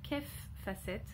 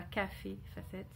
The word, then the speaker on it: Kaffe Fassett: D'ailleurs, on dit, et donc après beaucoup d'essais, on dit bien Kef Facette et non pas Café Facette.